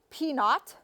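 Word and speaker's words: p₀: the proportion P naught the little subscript 0 is pronounced P naught for our null hypothesis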